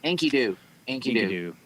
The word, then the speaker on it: Enkidu: Enkidu.